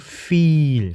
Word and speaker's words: viel: viel 이렇게 이와 에가 있으면 발음은 이에가 아니고 이 길게 하는 거죠. 그래서 feel이 아니고 feel, 그죠? feel 길게 발음하는 거.